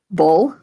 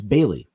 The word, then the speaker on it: Boehle: My best friend, his last name is spelled Boehle. What do you think that is? Bull. It's Bailey.